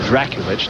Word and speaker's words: Drakulic: It's Drakulic, not Drakovic.